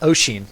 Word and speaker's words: Oshin: And last we have Oshin, is how it's pronounced, right?